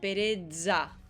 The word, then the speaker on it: pereza: Que básicamente es esa Z que teníamos antes, pero con una D delante. Pereza.